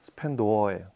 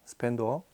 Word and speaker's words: 스펜도어: 스펜더 1/2 스펜더도 이 발음이 도냐 더냐 뭐 도어냐 이렇게 발음이 어떤 여러 가지가 있는데 수입사에서 이제 한글 표기는 스펜더라고 하는데 제가 아는 이게 정확한 발음은 스펜도어예요. 스펜도어. 예. 도로시에서 나온 그 사람 이름의 앞에서 나온 거라 합성어긴 한데 일단 그렇게 발음을 하더라고요.